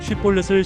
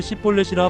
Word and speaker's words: 쉬볼렛: 에브라힘 사람들은 쉬볼렛을 시볼렛이라 발음했고 그로 인해 정체가 드러났습니다.